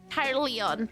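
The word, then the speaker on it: Caerleon: I realized Kyle Leon might not even sound like how it's spelled, but C A E R L E O N. Kyle Leon.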